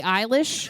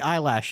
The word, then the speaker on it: Eilish: Billie Eilish? Yeah, that one. Sure. Billie Eyelash.